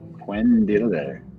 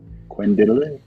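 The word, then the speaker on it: cuendillar: Actually, pronounce this. It's Quendillar. Quendillar.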